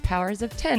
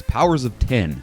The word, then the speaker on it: Powers of X: Yeah, because it's House of X, it's Powers of 10, according to Jonathan Hickman. If you think we're lying, Jonathan Hickman said that officially it's Powers of 10. Yeah. So we should all be saying it correctly, I think, now.